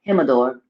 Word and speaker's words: Gemidor: my door my door him adore because you gotta the j is not a j it's like jesus or him adore um and that's the